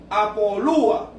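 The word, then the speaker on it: ἀπολύω: que utiliza es una palabra griega que se pronuncia apoluo, que quiere decir libertad completamente, aliviar o soltar.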